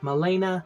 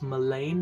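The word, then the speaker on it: Milan: game made by Ubisoft Molina and Ubisoft Paris I think I said it wrong I think it's main not Molen um and was not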